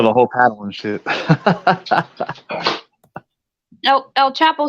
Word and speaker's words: El Chapo: That's how you say it. El Chapo. Yep. Like a Chicano.